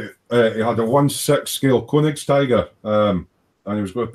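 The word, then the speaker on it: Königstiger: Is it Koenigstiger or Stiger? Koenigstiger.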